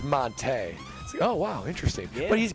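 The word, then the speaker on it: Montee: of Monte Ball, but for the longest time we called him Monte Ball. Yeah. Yeah. And it took like a couple years for, you know, it's actually Monte. It's like Monte.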